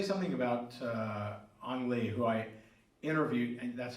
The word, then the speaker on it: Ang Lee: I would say something about Ang Lee, who I interviewed, and that's how you say his name in case anybody was wondering which way it was.